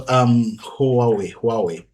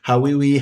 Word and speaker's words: Huawei: The easiest way to put it is you start with saying how are we, and from saying how are we, you blend it out nicely and add some intonations to it. I have had all different types of pronunciations for Huawei. I've had Hawiwi, Hawaii, but it's just Huawei, Huawei. So the actual pronunciation becomes Huawei.